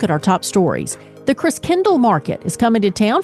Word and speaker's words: Christkindl: Secure your spot today and be part of the holiday cheer at the Christkindl Market. That's how you say it. It's German-based.